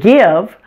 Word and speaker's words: give: system mystery and myth the words live and give are pronounced with a short I sound but they don't follow